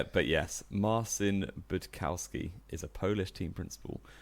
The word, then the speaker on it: Budkowski: I think you butchered both names there. Did I? Yeah. It's Loudon and Budkowski, isn't it? Like Graham Loudon, and that's definitely how you say that.